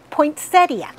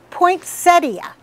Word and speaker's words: poinsettia: Poinsettia. That's right, poinsettia. It's got an I at the end, so if you're dropping it, put it back, not poinsettia.